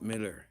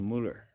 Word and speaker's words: Müller: It's not Miller, it's Müller. I know I keep pronouncing it Miller, but it's Müller.